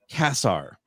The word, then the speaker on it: Cassar: thing I love casseroles so the fact that you used casserole as like the the the the the measuring stick for this is how you say my name I'm in but this